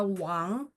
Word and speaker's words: Wang: Nah, kalau wang itu sebenarnya dia bacanya u a ng tapi ditulisnya ditulisnya ya ditulisnya W sori W A N G.